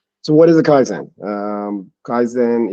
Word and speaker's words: Kaizen: Kaizen is a Japanese word with two syllables, Kai and Zen.